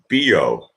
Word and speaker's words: Bio: is Bo of spelt bi oh and it's pronounced Bo see someone take take the joke and run